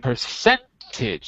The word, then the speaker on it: percentage: is perfect percentage increases percentage second syllable okay percentage percentage percentage increases